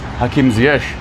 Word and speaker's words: Hakim Ziyech: But to be able to know that the pronunciation of his name is Hakim Ziyech is important to me, and important that my audience gets to understand that and know that as well.